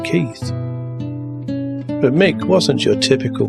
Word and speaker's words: Keith: a working class oik, running around pronouncing his bandmate's name as Keith, as though it was spelt with an F, in a fake working class Cockney accent, instead of pronouncing his name Keith.